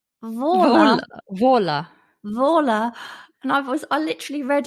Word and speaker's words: Waller: She's put in brackets, pronounced Vola.